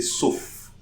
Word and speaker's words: sauf: Yes, this F, we are going to pronounce it. So we'll say sauf.